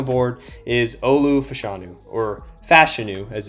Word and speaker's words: Fashanu: grab on the board is Olu Fashanu, or Fashanu as it's pronounced, out of Penn State.